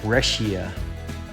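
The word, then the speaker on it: breccia: slabs out of that I pronounce that brescia I've heard that pronounced different ways as well I haven't really done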